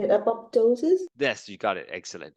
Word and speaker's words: apoptosis: Apoptosis.